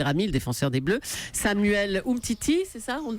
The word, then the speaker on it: Umtiti: la suspension d'Adil ramil défenseur des Bleus Samuel Umtiti c'est ça on le prononce comme ça Titi devrait être titulaire pour